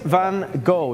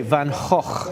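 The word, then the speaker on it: Van Gogh: Vincent Van Go. You know, the Dutch say Van Hawk. Not an easy way to pronounce it, but it is a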